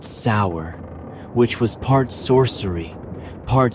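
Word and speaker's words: seiðr: Sometimes it relied on magic, specifically a mysterious practice called cider, pronounced sour, which was part sorcery, part spiritual therapy, and part my ex won't return my runes.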